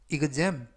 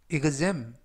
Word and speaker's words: exam: 이번 표현은 exam, exam, exam 이라고 발음하시면 되겠고요. 이때 EX는 igs, igs 발음이 나게 됩니다.